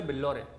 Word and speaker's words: Billore: Mister बिल्लौरे, बिल्लौरे का spelling है BILLORE।